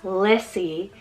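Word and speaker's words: Lissie: similar sound so i have the name liddy lissy and lenny so l i d d i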